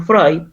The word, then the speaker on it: Freud: Ah, pero se pronuncia Freud.